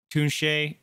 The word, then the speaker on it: Tunche: all right Thun Thun che tu n CH e is how it's pronounced ver spelled let's give this one a